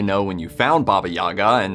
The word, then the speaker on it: Yaga: Though these days, you're more likely to hear it pronounced Yaga in popular culture. In the original Slavic, you pronounce it Yaga.